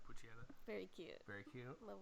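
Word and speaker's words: Pochita: How do you pronounce that thing's name? Puccietta. How did you like Puccietta?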